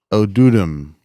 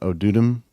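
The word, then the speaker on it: odoodem: Or Chippewa tribe, the word Odudum. So kind of totem, Odudum, similar, Okay.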